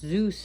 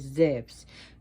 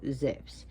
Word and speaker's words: Zeus: Zeus, her father, who's pronounced Zeus in America, but in Greek is Zeus. The U is actually like a V, so Zeus.